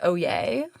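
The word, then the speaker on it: oyez: It's actually pronounced oay.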